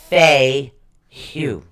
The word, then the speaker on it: Fehu: Now, Feiyu is actually spelled Fehu. Okay. But it's pronounced Feihu. Feiyu. Right. Fay and then Hu.